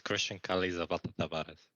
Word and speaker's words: Chrystian Kale Zapata Tabares: It's Chrystian Kale Zapata Tabares.